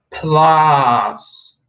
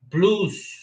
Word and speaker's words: plus: using this symbol in the blue color it's plus plus okay plus not blues not blues okay not blues don't forget plus